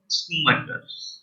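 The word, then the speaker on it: Schumacher: Michael स्कूमैकर।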